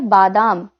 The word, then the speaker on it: बादाम: गलती करते हैं जैसे कुछ लोग बादाम को बादाम बोलते हैं तो ये गलत है सही उच्चारण क्या है बादाम ठीक है उसके बाद